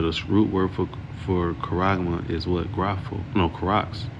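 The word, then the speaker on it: χάραγμα: Um this is the word for mark in the Greek it is pronounced kuragma right um it says in the strong definition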